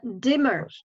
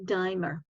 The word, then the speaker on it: dimmer: d cost and dimmer pay attention when you have double consonants you use the original sound e sound instead of an i sound if you only had one consonant here then the pronunciation would be dimer okay so because you have two consonants then it changes to e dimmer okay primal primeval okay